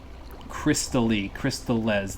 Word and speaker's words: Crystales: you just use, like, Crystalli or Crystallis or something like that. Crystales, that's how it's pronounced.